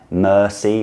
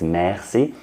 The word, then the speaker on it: merci: It's not merci, it's merci. But the error I want to draw your attention to is in the second part, in beaucoup, beaucoup.